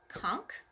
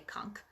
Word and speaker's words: conch: this is a queen punk or conch depending on how you want to pronounce it I've heard it pronounced both ways but I guess I usually say conch sounds a little bit